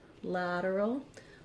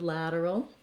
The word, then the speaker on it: lateral: If the vowels are confusing to you, you can think about saying a word like at lateral or ad lateral to get that A sound correct. To do the earl, you have to go in and out of that R and to that dark L. Earl, lateral.